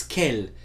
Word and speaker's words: quel: todos pronunciado né crer não pronuncia esse s no final claro então nós temos Kelly Kelly dessa as grafias aqui ó Oi Kelly Kelly Kelly e Kelly todas pronunciada do mesmo jeito mais uma masculino singular